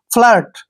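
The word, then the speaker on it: flirt: है यहां पर लगाएंगे फ्लर्ट फलेट नहीं पढ़ना है फ्लर्ट फ्लर्ट पढ़ना है फ्लर्ट होता है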